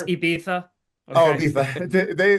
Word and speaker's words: Ibiza: being they're used to being in Ibiza at this point in time of the season. They added First on of all, it's another. Ibiza. Oh, Okay. Ibiza. They Pronounce it added on properly.